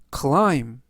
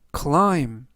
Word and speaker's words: climb: 뜻이 되겠습니다 이번 단어는 클라임 클라임 클라임이라고 발음하시면 되겠고요 이때 맨 끝에 있는 알파벳 b는 이번 단어에서 묵음이라 발음이 되지 않습니다 품사는 동사 뜻은 산이나